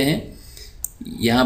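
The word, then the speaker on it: high: difficult मुश्किल को कहते हैं यहां पर जी जो है साइलेंट है तो इसको हम पढ़ेंगे हाय हाय फास्ट ग्रेट लाइट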